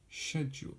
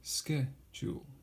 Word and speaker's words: schedule: There are two ways, the British way and the American way. So, the British pronunciation is schedule, schedule, schedule, schedule. The American pronunciation is schedule, schedule, schedule.